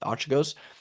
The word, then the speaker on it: Archegos: Was it Archegos? Archegos, Archegos, yeah. Archegos, or whatever you call it, which is kind of funny because if you think of it, the way that the fund is pronounced, Arch Egos, it's like Yeah.